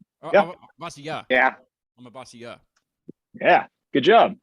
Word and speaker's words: Amavasya: Amavasya.